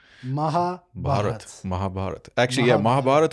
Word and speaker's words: Mahabharata: bat Mahabharat actually yeah Mahabharat would be the right one and Mahabharata would be the the